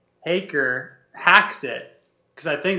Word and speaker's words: Haaker: Yeah, I think that they'll probably just keep saying Hacker. It's all right. The PR team's like, nah, we don't have time for this. My championship shirt said Haker hacks it, because I think that they're like Hacker hacks it, you know.